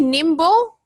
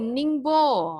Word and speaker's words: Ningbo: Did you say nimble? Did I say it right? Nimble or not? No. No. What is it? What letter? What's the beginning letter? Oh, Ningbo.